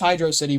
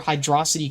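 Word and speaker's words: Hydrocity: a valid argument, but it's hydro city, bro. I I don't even know where hydroity came from. That just just sounds stupid. Come on. Hydroity. What in what other word does an O make an a sound?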